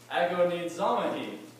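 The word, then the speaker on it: ἀγωνίζομαι: believe it is pronounced ago needs zombie it sounds kind of african to me but it kind of sounds like agonized a little bit a little the literal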